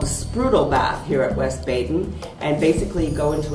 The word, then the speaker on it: West Baden: had the chance to visit the French Lick West Baden, as it's supposed to be pronounced, museum.